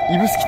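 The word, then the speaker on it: 指宿: ね、これ指に宿と書いて指宿と読みます。指宿枕崎線の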